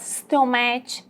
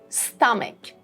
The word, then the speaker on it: stomach: It's not stomach, it's not stomach. This is stomach, stomach. We have a schwa sound here after M, so we would say it stomach, stomach.